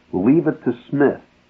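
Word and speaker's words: Psmith: called leave it to Smith spelled with a p p P Mi i t h leave it to Smith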